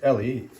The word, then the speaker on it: Elie: that here's the spine ellie it's pronounced ellie he is i think eliezer they say that early